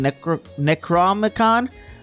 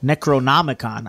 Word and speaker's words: Necronomicon: left this funny looking necromicon on my doorstep it's not an acronomicon Necronomicon I've been saying it wrong this whole time it's not pink silly